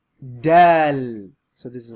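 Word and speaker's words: دال: Dal. So this is like the D. D as in dad, dome, done. Right? So this letter is pronounced dal. And that last sound is like an L, like D-A-A-L.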